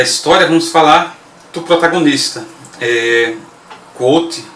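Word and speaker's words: Kvothe: Quoth, ou a pronúncia é um pouco mais Quoth, né? Você não fala o último ele é claramente o alter ego de um super nerd.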